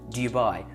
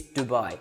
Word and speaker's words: Dubai: It's Dubai. It's Dubai. Nobody who lives in Dubai is going to call it Dubai. Can you even hear the difference? Dubai, Dubai, Dubai, Dubai. Like daddy. You wouldn't say jaddy.